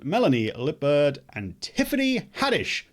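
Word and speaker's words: Haddish: lip bird and Tiffany hadish whose name rhymes with radish coincidence yes uh here's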